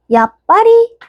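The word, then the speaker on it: やっぱり: 그러면은 야, 츠파리라고 했던 녀석은 어떻게 되겠죠? 츠가 일단 아니죠. 얘는 받침이 돼서 야빠리, 야빠리 이렇게 됩니다.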